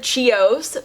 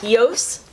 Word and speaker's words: Chios: using the shade heõs I would have said chioce but I looked at the pronunciation because I don't want to look like an idiot and apparently it's Chios I don't know but mrs.